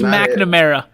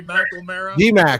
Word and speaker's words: McNamara: spell it nope nope yeah it's mcnamara yeah it's the same thing no there's no l in it oh my god who